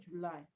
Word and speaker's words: July: thing we know okay now a situation where the first level of that word contains either a sound short e sound or short oo sound and the second syllable contains um a strong